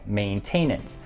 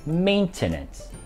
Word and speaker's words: maintenance: 我在美國和香港都有不少的親戚。第五，保養，很多朋友會將它讀成 maintenance，但這個字其實應該是 maintenance。